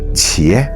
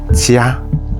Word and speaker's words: 伽: "Sangharama Bodhisattva" Note here it is pronounced 'qié' Not 'jiā' Finally, among the people